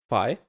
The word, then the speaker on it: phi: because it starts with a P, phi, but it's an F.